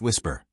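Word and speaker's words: WSPR: The system is called Whisper, Weak Signal Propagation Reporter, pronounced Whisper, and it was never designed with aviation in mind.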